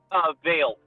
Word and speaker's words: Vale: Vale. How you spell it?